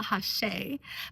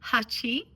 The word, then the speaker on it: Hacci: If you're in the UK, you might call it Hacci, but the correct term is Hacci. and it's closer to the Japanese number 8.